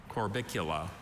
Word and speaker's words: Corbicula: That's the only pronunciation, right? That's correct.